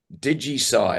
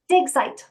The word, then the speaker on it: Digsite: Digisite, is that how it's pronounced, or Digisite? Digsite.